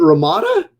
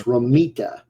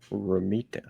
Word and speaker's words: Romita: How do you pronounce his last name? Is it Ramada? Ah, you know, I'm not 100% sure. See, I'm gonna have to Google this because I I think I've been pronouncing his name wrong my entire life. Oh, that's funny. Pronounce John Romita. Okay, it's Romeita.